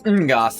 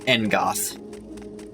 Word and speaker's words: Ngoth: Because it's Ngoth, not Engoth.